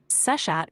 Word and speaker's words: Seshat: Speaking of mythological figures, could you please tell us about Seshet, if that's the correct pronunciation? She's an Egyptian lady with a stick. What's that? Seshat was the ancient Egyptian goddess of writing, wisdom, and knowledge.